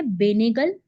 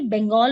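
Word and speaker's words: Benegal: इनका पूरा नाम है बेनेगल। स्पेलिंग लिख लेना सामने से, बंगाल मत लिख लेना। बंगाल नहीं है, बेनेगल नाम है इनका, क्योंकि स्पेलिंग देखने में पढ़ने में लगता है बंगाल लिखा हुआ है।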